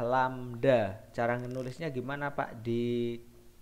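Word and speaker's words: lambda: cepat rambat lamda pete ini bacanya adalah lamda cara menulisnya Gimana Pak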